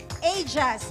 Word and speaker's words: Aegis: East-West Aegis Insurance. I hope I pronounce it right. Okay. Aegis, yes.